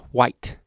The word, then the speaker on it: white: i say golf but i do pronounce the h in white white uh so yeah